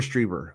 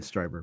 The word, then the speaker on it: Strieber: Stryber or Strieber? I don't know. I've always said Stryber. Art Bell used to say Strieber. Strieber, okay. He could be He would know. pronouncing that incorrectly the whole He's Art fucking Bell. time. I'll go with Art Bell.